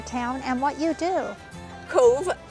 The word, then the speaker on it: Cobh: bit about your town and what you do Cove c o b h this okay you pronounce it Cove pronounced Cove okay it's the Irish actually um so it